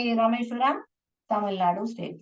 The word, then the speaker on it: रामेश्वरम: नहीं पढ़ने का रामेश्वरम नहीं प्रोनाउंस करते हैं इसको कैसे प्रोनाउंस करते हैं रामेश्वरम आर ए एम ई एस H Ramesh Varam R ए एम रम रामेश्वरम okay you should not read रामेश्वराम Rameshwar Ram ऐसे नहीं पढ़ने का रामेश्वरम करके पढ़ने का यह